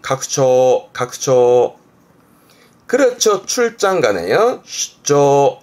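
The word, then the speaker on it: 拡張: 이게 확장, 발음은 각초, 각초.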